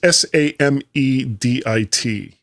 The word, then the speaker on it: Samedit: 10.15 for the Baron Samidit, or is it Samedit? It's a pseudo flaw. Yep. I don't know how to pronounce that. It's Samedit. That's the way it was spelled in the story.